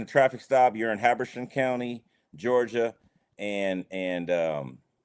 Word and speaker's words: Habersham: Yes, Habersham County, Georgia. How you spell that? Hamersham? Habersham, Haber. Pardon me. ERSHAM. Habersham.